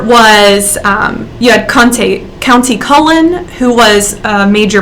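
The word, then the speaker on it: Countee: kante conte county cullen i call him kante in my head but i looked it up and it's actually county he was a poet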